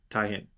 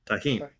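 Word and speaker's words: Tajín: It's a coconut panakotta filled with chammoy pineapple bits topped with mango topping and tahin. Am I pronouncing that right? The red crumbles. Taheen.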